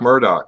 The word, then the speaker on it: Murdoch: How do you say that, Doc? That's Doc Murdoch.